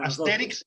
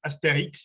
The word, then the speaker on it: Astérix: en españa le dicen astérix y obélix y en francés pues con todo lo francés siempre la tilde siempre el acento al final es astérix y obélix no sé cómo se